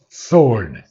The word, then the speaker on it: sword: mistake for a poignant sword sword the W is not pronounced again so a solitary